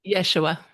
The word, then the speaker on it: Yeshua: You call now Yeshua. Is it? How do you pronounce that? Yeshua.